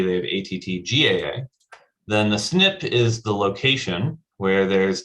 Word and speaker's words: SNP: It's pronounced SNP, for single nucleotide polymorphism.